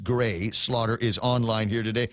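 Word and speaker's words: Grés: Ed Alvarez, good morning to, let me see, Gray Slaughter, G-R. It's the E with the mohawk on it, S. And according to Donna, that's pronounced Gray.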